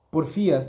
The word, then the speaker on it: porfías: La primera palabra es porfias. Porfías, perdón, lleva acento en la I, pero como no tengo mis lentes, no lo oí.